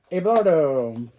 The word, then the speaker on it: Abelardo: Abelardo.